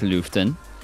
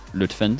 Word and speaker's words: Lütfen: Ekmek Lüften. Lütfen, sorry, Lütfen.